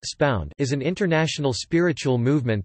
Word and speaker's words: Subud: Subud, pronounced spound, is an international spiritual movement that began in Indonesia in the 1920s, founded by Muhammad Subbu Sumohadiwijojo.